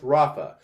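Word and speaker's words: רָפָא: The 7495 healed is pronounced Rapha.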